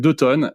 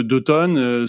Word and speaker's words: 2 tonnes: Alors déjà, 2 tonnes, ça s'écrit 2, le chiffre 2, et puis tonnes, TO2NES. Parce que souvent, quand on présente ça, notamment en septembre, octobre, novembre, tout le monde pense que c'est un atelier d'automne.